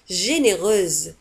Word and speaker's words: généreuse: généreuse تكتب بآخر الكلمة بإس أو وتنطق مثل الزد. généreuse généreuse.